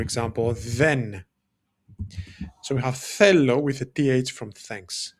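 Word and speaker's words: θέλω: And that is fellow. Fellow spelled like this. Fellow. And we have that th sound, the theta, which in Greek is a th sound when we say thanks or thoughts, right?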